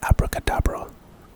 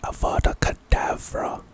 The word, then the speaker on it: Avada Kedavra: A lot of people, whenever they pronounce this spell, they think it's abracadabra, but it's Avada Kedavra.